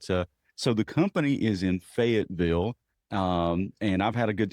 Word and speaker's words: Fayetteville: Okay, so it's Fayetteville. Yes, that is And it's like Fedville. Fayetteville. And it's almost one syllable. So you have to say it kind of quick, Yeah, absolutely.